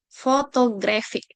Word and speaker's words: photographic: longer than unstressed ones for example photograph stress on fable photograph versus photographic stress on third syllable longer duration there next